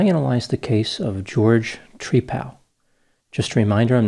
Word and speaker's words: Trepal: Apparently, Trepal is how he pronounced his last name. It seems a little unusual to some people, like he's friends with a tree, like a Trepal, but this is what I found out. This was the pronunciation.